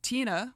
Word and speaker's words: Tina: and he decides that Tina which rhymes with Sheena supercool and Tina Turner